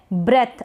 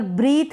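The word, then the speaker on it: breath: फिर है ब्रेथ। अब यहाँ पर ब्रीथ नहीं पढ़ेंगे, इसको पढ़ेंगे ब्रेथ।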